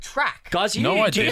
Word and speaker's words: Toorak: Oh, and another thing, it's frightfully non-you to call it Toorak. The correct pronunciation is track.